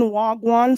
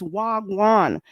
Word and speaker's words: wagwan: And for those who keep saying wagwan, say it properly. It's wagan.